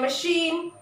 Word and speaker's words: machine: in the French language, which are derived from the French language, have the pronunciation sh.